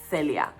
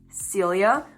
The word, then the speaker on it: Celia: And I know in English it sounds like I have a lisp because of the way I pronounce the C, but that's just the way you pronounce soft C's in Spanish.